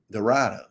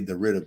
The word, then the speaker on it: DeRidder: Dorada. They say Dorita, but we say Dorada.